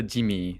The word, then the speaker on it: Jimmy: Do you like Jimu or Jimmy? It's a Jimmy.